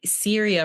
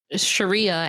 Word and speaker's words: Sharia: me it's it's not it is Sharia is it Sharia okay yeah but you're pronouncing it with an h i for some reason I want to say Syria for some reason and that's not right no so Sharia okay